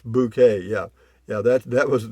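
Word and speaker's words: Bucket: dude on mail call says hyacinth bouquet yeah that's pronounced bouquet yeah yeah that that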